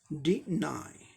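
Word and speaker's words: deny: अब नेक्स्ट देखें, डिनाई, दो ब्रेथ, डी एक ब्रेथ, नाई दो ब्रेथ, तो दो सिलेबल का ये वर्ड हो गया।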